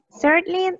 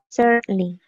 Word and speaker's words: certainly: Certainly, esta palabra se pronuncia, este de acá, se pronuncia certainly. Y significa por supuesto. Por supuesto. Certainly. No se pronuncia la N ni la A.